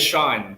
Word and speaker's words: Cian: It was wait, so CIAN is Sean. That's how you Yeah, pronounce it, Sean.